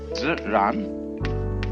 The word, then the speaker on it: Ziran: We use the word nature for the Chinese expression Ziran. They pronounce J like a sort of unrolled R.